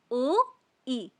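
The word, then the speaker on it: 오이: तो I would recommend कि आप यहां पर स्क्रीनशॉट ले लो और आप मेरे साथ-साथ में प्रोनाउंस करो। तो फर्स्ट शब्द है हमारा ओई। ओ ई।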